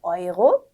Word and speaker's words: Euro: 네, neu, Euro, 유로 아니라 Euro, äußere aufräumen. 네, 그래서 네우 이런 게 아니라 나이라고 읽는 거 I 발음 주의해 주시고요. 이제 유로 아니고 아이로였습니다.